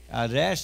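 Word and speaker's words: ריש: Resh, say with me, resh. Resh, an R sound. Resh, resh, R, re, re.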